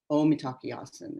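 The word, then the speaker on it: Mitákuye Oyás'iŋ: Omitakiasan is how they say it in Sioux.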